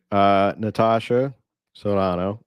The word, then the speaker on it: Natasha Serrano: Natasha Serrano, also known as Naty.